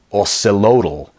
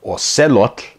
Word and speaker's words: axolotl: the last syllable and when you pronounce TL as tol you're actually adding an extra syllable to the word so instead of or said look which is three syllables or say look you create an additional